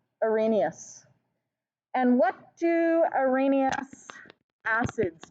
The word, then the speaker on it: Arrhenius: of acids and bases starts with an a arrhenius yes arrhenius and it's spelled our penis but pronounced arrhenius and what do arrhenius acids do they're not